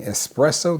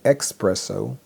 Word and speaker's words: espresso: Instead of saying espresso, they say expresso.